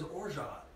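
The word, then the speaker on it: orgeat: Maya Mo's Rye Zsa Zsa, which is a rye drink, which has orja, which rhymes with zsa zsa, orja, zsa, zsa, orja, zsa, or zsa zsa, you tell me.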